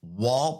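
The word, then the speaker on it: Wahl: Now, to vote, you want to visit Wall Pets or Wall Animal TikTok pages and comment with the hashtag Wall Dirty Dogs Contest on Kaylee's video. And Wall is spelled W-A-H-L in all of those.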